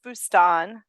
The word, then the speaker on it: Boustan: I said Boustan, and that's like Mississippi way of saying it. Well, I'm not really particular. It is Boustan.